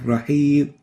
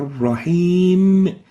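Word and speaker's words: الرحيم: mistakes of the mean first mistake is and pettite in the name sound upon a stop an example of that is a Rajib of rahib almost not planting them in here and the right way of pronouncing it here is a rahim so even if we stopped at the m of a rahim the mean should be should be expressed and the reason is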